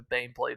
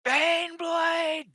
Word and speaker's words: Baneblade: there you'll hit the ban plate at least from the side and that'll damage it a bit pronouncing it wrong it's ban blade it's debb EEG it's